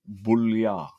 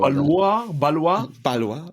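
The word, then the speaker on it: Ballouard: So lot 40, Ludovic Boulliard. Wow, that's terrible pronunciation, but yeah, okay, we'll go. Balois.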